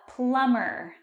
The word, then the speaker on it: plumber: A plumber. And that's tricky because the B is silent.